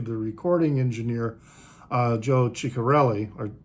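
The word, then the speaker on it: Chiccarelli: sometimes the doubles uh the double c's in italian are sometimes pronounced as s maybe or uh or maybe they are pronounced as a hard c anyway it's also a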